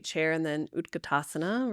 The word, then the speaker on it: Utkatasana: pose and they may say chair and then utkatasana right utkatasana yeah let's do that did I say it right utkatasana yes is chair pose it's actually Fierce pose